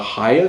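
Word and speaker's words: Hayya: you have to have a card called a higher card that's spelled h a double y a card which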